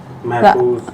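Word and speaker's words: محفوظ: है इसमें आया महफूज सही उच्चारण महफूज महफूज बताइए आशुतोष महफूज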